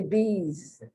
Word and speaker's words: bees: of the matter is they both end with the z sound you don't say bees you say bees that s is pronounced like a z and this which is